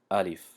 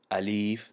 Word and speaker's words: الف: الف، الیف نمیگیم چون که کشیده نمیشود، لیش کشیده نمیشود.